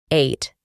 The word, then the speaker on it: ate: Para pronunciar este verbo, eliminamos la e del final y pronunciamos la a como ei, ate.